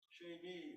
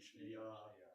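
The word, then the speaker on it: שנייה: And everyone says, no, Sheni. And some say it correctly, Shneiyah.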